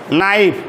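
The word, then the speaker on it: knife: এলফ বলো খাফ half half half লাইফ লাইফ নাইফ দেখো এন এর পূর্বে কি আছে কি এর উচ্চারণ হবে না বলো নাইফ নাইফ থিফ থিফ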